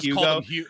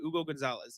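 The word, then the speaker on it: Hugo González: I just called him Hugo. I have done it for the past 2 weeks. Yeah. So I need to like, I'm just like snapping myself into it. Hugo Gonzalez. You don't pronounce the H.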